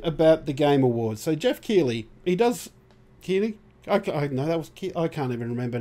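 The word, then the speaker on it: Geoff Keighley: So Jeff Keighley, Keighley. I can't even remember now. Now my brain's gone. Jeff, we're just going to call him. Yeah, Jeff. no, it is Jeff Keighley.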